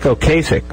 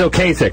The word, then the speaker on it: Ocasek: look at that Ric Ocasek there's now known Ric Ocasek although it was okay sick for like 25 years by the way